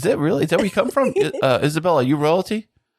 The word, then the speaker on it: Isabella: Welcome to the show, Isabella Beham. Hey guys, thank you so much for having me. Thank you so much for showing up here. It's Isabella, not Isabel.